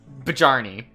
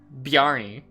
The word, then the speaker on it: Bjarni: Bajarni. No, not quite. You told me to pronounce the J. But it's a J used in another sense. Okay, so Barney. To give it a yeah sound. Bjarni.